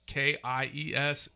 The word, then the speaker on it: Kies: It's Kies.